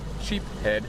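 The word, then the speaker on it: sheepshead: about the sheep's head sheep head is the right way to say sheep's head however whatever it is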